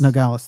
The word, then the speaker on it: Nogales: And in, or is it Nogales? Nogales. Nogales, that's it. I know there's a pronunciation thing there.